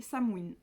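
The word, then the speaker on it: Samhain: sont automne Halloween et samoine qui s'écrit Sam 1 Sam parce que moi pas dans longtemps je me suis demandé en fait de quoi en parler mais en fait ça se prononce pas du tout comme ça s'écrit donc voilà donc là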